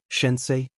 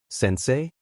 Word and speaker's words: Sensei: for her to inspect unfortunately botched the pronunciation shensi Sensei he corrected not unkindly blast it